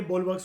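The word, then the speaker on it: bulwarks: ये वैसे बुलवार्क्स करके लिखा हुआ है, प्रोनाउंसिएशन की बोलवर्क्स होती है। बोल BOWL बोल वर्क्स WORKS, ठीक है, इसको ऐसे ही बोला जाता है।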